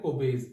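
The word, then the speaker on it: Kolbe: ठीक है, अब देखो सेकंड जो रिएक्शन है यहाँ पे, दैट इज कोबेज रिएक्शन, इसको बोलते हैं कोबेज, एल is silent over here, कोबेज electrolytic reaction या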